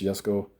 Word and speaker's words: Jesko: But it's the 2020, way too close to the camera, Jesko. Spelled Jesko, but it's pronounced Jesko.